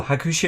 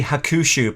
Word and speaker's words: Hakushu: i'm trying to say we tend to say hakusho but it's probably hakusho isn't it uh hakusho i'm going